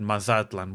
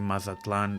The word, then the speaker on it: Mazatlan: And yes, I know that the Spanish way of pronouncing Mazatlan stresses the last vowel, but for this video, the original Nahuatl way stresses the penultimate, aka the second to last vowel.